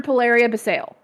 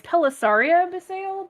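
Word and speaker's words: Pelessaria B'Sayle: dark blue except for polaria basale i forgot that was what pb stood for so kudos on you because i would never it's actually i said it wrong it's pelisaria the sale but it's pb it's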